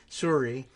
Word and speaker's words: Sorry: Suri is the real pronunciation.